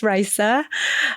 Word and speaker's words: Rissa: Uh, my name is Rissa and I'm going to say my name one more time because I I have people that have known me for 10 years that don't know how to say my name still, but it's Rissa.